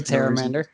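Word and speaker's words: Pteramander: God, I keep pronouncing the P. The Terramander.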